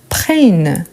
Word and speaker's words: prennent: Mais, quand on arrive à la troisième personne, on a besoin d'ajouter ENT qu'on ne le prononce jamais. Du coup, qu'est-ce qu'on fait pour avoir un son fort? On va doubler le N. Donc, on dit il, elle prennent. Et pour avoir ce son prennent, on va doubler le N.